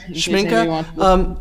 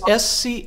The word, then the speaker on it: Schmincke: Can you spell that for the chat? Schmincke. Actually, it's Schmincke.